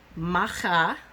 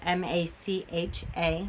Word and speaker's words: Macha: And so there is the Morigu, Macha, which is spelled M-A-C-H-A, Macha, and Bave, which is B-A-D-B, Bave.